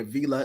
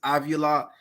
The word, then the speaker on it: Avila: I guess that's how they pronounce his name. It ain't Avila, it's Avila.